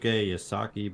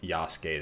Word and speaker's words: Yasuke: The amount of people that say Yasuke, Yasaki, Babaki, bro, I'm getting sick of it.